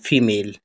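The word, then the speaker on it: female: एम ए एल ई एफ ई फे नहीं फी फी एम ए एल ई मेल फीमेल फीमेल माने मादा जैसे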